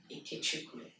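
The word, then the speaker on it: Ikechukwu: have this wonderful Nigerian name how do you pronounce it um it's iku ikuku it means God's Str wow so it's James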